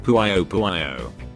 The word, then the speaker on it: Puyo Puyo: And yes, it's pronounced Puyo Puyo, not Puyo Puyo. Puyo Puyo is also an acceptable pronunciation.